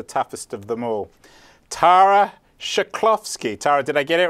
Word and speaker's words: Chklovski: I've had some hard people on the show to pronounce, but this one is the toughest of them all. Tara Chklovski.